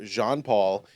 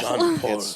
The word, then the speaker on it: Jean-Paul: heavily Catholic um so Jean-Paul it's and this is where this is where it annoys me because it's Jean not John there's no h in it John Paul yeah it's pronounced I